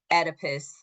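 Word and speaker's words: Oedipus: Edipus, the O is silent.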